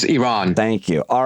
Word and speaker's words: Iran: How did I pronounce Iran? Is it Iran or Iran? I always say Iranian. It's Iran.